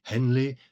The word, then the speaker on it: heavenly: Note that heavenly is here pronounced with two syllables. Henley so as to scan and alchemy really